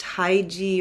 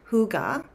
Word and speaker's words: hygge: but it's actually pronounced Huga which is really odd but cool um because my English speaking brain just kind of looks at those letters together and and feels like it should sound different but I'm going to